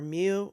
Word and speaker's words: mu: the first Greek letter is the Greek letter mu it's pronounced M Y O O mu um looks